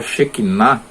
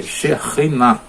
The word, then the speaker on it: Shekhinah: Não é Shekinah, é Shekhinah. Tá? Porque a palavra, lá no meio da palavra tem KH, mas em hebraico a transliteração correta seria CH.